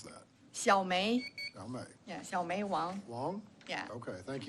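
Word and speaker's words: Xiaomei: x-i-a-o-m-e-i is that correct yeah how do you pronounce that xiaomi yeah long yeah okay thank you Miss Wong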